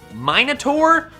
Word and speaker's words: Minotaur: Or as I've been told, it's actually pronounced Minotaur, but Minotaur sounds better, so we're sticking with that.